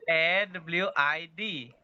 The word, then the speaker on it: lawid: LAWID. Laut. LAWID. Laut. Oh. Ya, tapi dia ada bunyi pronunciation dia lawid. Mau masuk sikit dia wid dia.